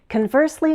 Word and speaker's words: conversely: Conversely means in contrast. We can say conversely or conversely. Do you hear how the vowel sounds also change with the shift in stress? Conversely, conversely.